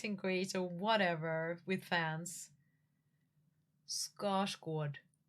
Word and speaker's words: Skarsgård: Scar squad. Scosg.